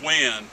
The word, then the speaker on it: Nguyen: Kong common name Bill last name Nguyen pronounced when so Fuki Kong win